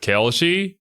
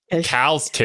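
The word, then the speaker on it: Kal'tsit: That specific time was left up to Ama 10, also known as Kelchi. She would roam the land. Okay, that's how you pronounce it. Kelshi. I was like, "Cal's kid."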